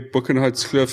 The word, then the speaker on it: Boekenhoutskloof: Um, Linden, just like just just outline a little bit like where Bookenhot Cliff is. Um, firstly, am I pronouncing it correctly?